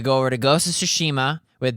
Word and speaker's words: Tsushima: over to Ghost of sushima with d Su also why does Jeff key pronounce ghost of tsushima wrong how does he say it ghost of tush ew that's as if it